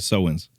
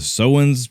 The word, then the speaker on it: Samhain: The Sowens helped start Halloween. Yeah. Sowens. But take the last S off.